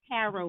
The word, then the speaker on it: tarot: she gets she does tarot reading there's no t you don't pronounce the key at the end right my back so